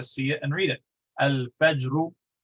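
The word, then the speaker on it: الفجر: So al-fajr, fa is pronounced with the lips. It's too far away from the place where lam is pronounced, and so we pronounce both of them distinctly. Al-fajru.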